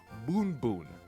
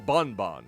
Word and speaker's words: Boon Boon: I have a Bulbasaur named Boon Boon, or Bon Bon, if you like to pronounce it that way.